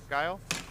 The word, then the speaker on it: Guile: Is that the pronunciation? Guile?